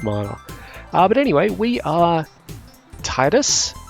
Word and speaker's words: Tidus: but anyway we are titus it's sometimes pronounced tidus i am not sure of the correct pronunciation but i will be trying to use titus most of the time as in tiberius but thai dust excuse